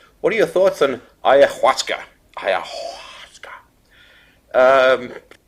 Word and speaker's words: ayahuasca: a word from the amazon indians it's actually pronounced simply ayahuasca it's perfectly easy to pronounce it looks strange